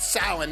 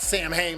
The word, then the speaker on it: Samhain: this sort of salon thing and yeah it's pronounced samhain not samhain like they pronounce it in the movie samhain but this is where they really start incorporating